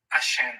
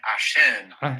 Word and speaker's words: عشان: عشان. عشان. So the Alashen. accent is on the end.